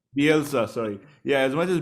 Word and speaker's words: Bielsa: He's the Ted Bundy of Leeds, and I think as much as how you pronounce his name? Bielsa, Bielsa, sorry.